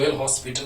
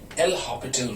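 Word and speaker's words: L'Hôpital: तो चलिए थोड़ा सा सिखला ही देते हैं आपको एल हॉपिटल रूल, जिसको एल हॉस्पिटल रूल लोग कहता है, लिख देता है, लेकिन actual pronunciation is एल हॉपिटल rule. लिखाता हॉस्पिटल ही है ना।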